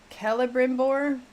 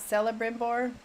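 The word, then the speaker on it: Celebrimbor: Kellbimbbor, not Cella Brimbbor. Kella with K.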